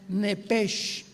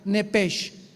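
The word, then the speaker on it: נפש: de la palabra alma la palabra hebrea nepes como suena n de nana e de Enrique p de Enrique e de Enrique sh H como suena nepes nepes se pronuncia en el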